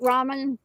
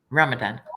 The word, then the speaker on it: Ramadan: He'd be out there drinking during Ramadan, or what is it, Raman? How do you say it? Ramadan.